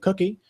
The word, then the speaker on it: Mookie: He says, "My name rhymes with cookie. The Mucky thing started by an angry Grey Maynard fan who was pissed that he didn't like watching Grey Maynard fights."